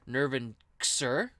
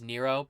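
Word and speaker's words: Nrvnqsr: first time actually i i realized the other day that i've been reading his name wrong it's actually nirvan sir if we were to pronounce his uh name the way it's written i know everybody says nero but that's stupid but i've been reading it wrong this entire time it's actually nerve and sir but i'm probably just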